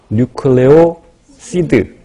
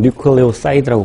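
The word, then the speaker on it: nucleoside: 그래서 인산기가 제거된 것을, 다시 말하면 리보스나 디옥시리보스, 그러니까 RNA에서도 그 당에 1번 탄소에 염기가 붙어 있는 상태를 뉴클레오 시드 또는 뉴클레오 사이드라고 발음하죠.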